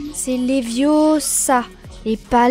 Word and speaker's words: Leviosa: Et puis d'ailleurs, tu ne sais même pas le prononcer. C'est Leviosa et pas Leviosa.